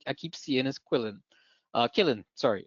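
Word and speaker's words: Qilin: Killin, sorry, it's spelled Quillin, but it's Killin, right?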